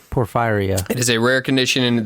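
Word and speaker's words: porphyria: a blue purple stool called poror fire poor fire I'm pretty sure that's how you pronounce it it's p o r p h y r i a Poria por firea it is a rare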